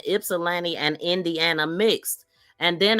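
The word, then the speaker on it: Ypsilanti: He was supposed to be going to her house and she was mispronouncing Ipsilani calling it IP ips. She was saying it's so Jack, but she was like Ipsyani or Ipsiana or something.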